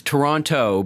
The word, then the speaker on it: Toronto: so yeah so it's Toronto but Torontonians don't pronounce the last T so stir on o